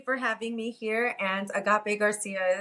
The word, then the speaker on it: Agape Garcia: And Agape Garcia is the correct pronunciation.